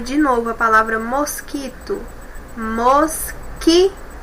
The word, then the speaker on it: mosquito: Vamos pronunciar de novo a palavra mosquito. Mosquito. Observem que esse U nós não ouvimos o som dele, tá bom? Porque junto com o Q aqui eles formam um som apenas.